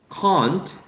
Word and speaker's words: can't: Being the first one for RP, or received pronunciation, can't, the long A, and the trap for general American. For General American, the trap is preferred.